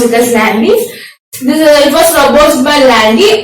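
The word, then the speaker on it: Landé: We pronounce it as Landy.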